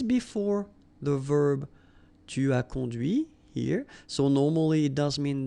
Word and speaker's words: conduit: And that's when you hear the difference between conduit, because remember, final T is not pronounced, conduit here, and then the feminine, conduite.